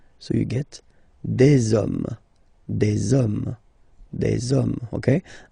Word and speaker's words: hommes: and after that you just put the s at the end. You don't pronounce it, so you get des hommes, des hommes, des hommes.